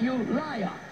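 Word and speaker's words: Ulai: I would say pronounce it you liar.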